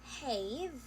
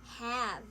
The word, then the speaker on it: have: or read this word, the word have as have, like the word cave, it is a long A, we can try to adjust it to this. What sound does it make? It is have, have, have. So you have to make a smile and then pronounce ah, have, instead of have, as in cave.